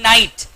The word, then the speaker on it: knight: NIGHT, night. KNIGHT, night. DEER, deer, वो animal. And DEAR, pronunciation same है.